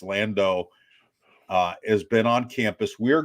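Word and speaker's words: Landow: So Notre Dame started their winter workouts last week, and Lauren Landau, we've been using the alternate pronunciation of Landau, but it's Landau, has been on campus.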